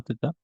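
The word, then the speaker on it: θ: se rían se llama teta vamos a ver que esta letra griega que se llama teta y se escribe con h de es el ángulo de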